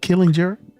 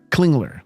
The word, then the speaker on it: Klingler: Killinger? How do you pronounce it? Just and Klingler. Klingler. Klingler.